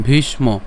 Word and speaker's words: ভীষ্ম: ভীষ্ম এটা সবাই পারবেন ভীষ্ম এখানে মূর্ধন্য আছে সেজন্য উচ্চারণ কেমন ভীষ ভীষ্ম এরপর দ্রণ প্রমুখ কেন কারণ